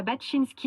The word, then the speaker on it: Baczynski: Marie Romanence nous parlera de son gant démaquillant et Timéa Baczynski nous montrera comment elle gère ses déchets en un seul set. Magnifique. Bonne prononciation de Baczynski.